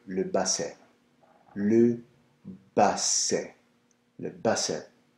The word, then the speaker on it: basset: Le Basset. Alors, the T is silent.